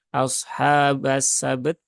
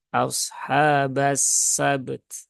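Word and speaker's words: أصحاب السبت: itu juga harus ditunaikan Maka bukan ashabasabt ya tetapi ashabas sabt nah sabt Nah ada at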